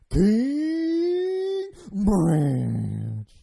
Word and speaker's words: King Ranch: You have to elongate everything, so it's King Ranch. So the longer you can stretch that out, the longer you stretch it out, the more proper that is.